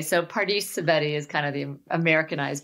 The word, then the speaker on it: Pardis Sabeti: So it's Dr. Pardis Sabeti. If it was in Persian, it would be Pardis Sabeti.